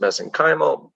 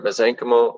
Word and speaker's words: mesenchymal: We refer to them as, I've heard them pronounced mesenchymal, mesenchymal. I prefer mesenchymal stem cells.